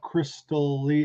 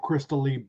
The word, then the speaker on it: Christalee: We have Christalee. Is that how you pronounce it? Christalee? Christalee? Christalee? Christalee? Christalee. Say that Christalee. Christalee. That's a crystal ball. Like a crystal ball, like Christalee.